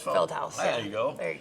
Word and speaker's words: Feldhaus: Is that pronounced right? Feldhaus? Feldhaus.